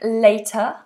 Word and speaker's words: later: One has a diff thong later. I'll see you later. And latter is a short vowel.